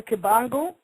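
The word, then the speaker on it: Kimbangu: butcher the name again Simon kangu k i m b like boy a n like never gu and the brother Simeon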